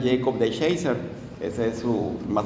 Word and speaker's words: DeShacer: Eh, bueno, al principio aparecía, eh, tiene un apellido medio chistoso porque parecía que decía deshacer, pero según lo que estuve escuchando es Jacob de Shaser.